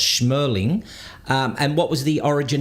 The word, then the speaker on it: Shmerling: got your name wrong I said schmowling and you said now it's smirling and what was the